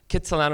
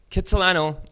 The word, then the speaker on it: Kitsilano: Argost Jack cut Solano Kitsilano is kind of like the anglicized pronunciation of his name do you know I